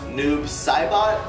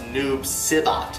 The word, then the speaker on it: Noob Saibot: not as clearly said but his name is pronounced noob saibot it's not pronounced noob sibot if you're doing commentary for a video game